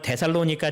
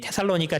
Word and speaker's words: 테살로니가: 그런 가운데 380년에 테살로니가 칙령이 내립니다. 이건 발음이 영어다 보니까 어떤 사람은 데살로니가 칙령이라고도 얘기하고 어떤 사람은 이 테살로니가 칙령이다라고 이야기하는데 이 칙령은 어떠한 칙령이냐면은 325년에 콘스탄티누스 황제가 니케아 종교회의를 엽니다.